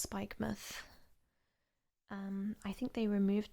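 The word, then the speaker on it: Spikemuth: so it's like mouth so it's like spike mouth but it's pronounced spike myth um i think they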